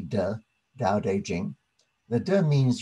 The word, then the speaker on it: De: The De, spelled T-E, but pronounced D-E, De, Tao De Jing.